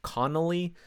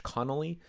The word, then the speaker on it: Conley: rarely mispronounced most people are able to pronounce Mike Conley wherever you're from like I've never heard anyone mispronouncing it sometimes it's connelly like I've heard people do that especially if you're Irish Connolly but it's Connelly CE o nly but the